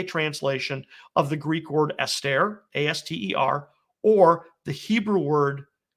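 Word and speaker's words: aster: is usually a translation of the greek word astaire a-s-t-e-r or the hebrew word kaukab okay and i we spell that k-o-w-k-a-b calcab right so either greek astaire or hebrew kokob uh the greek astaire that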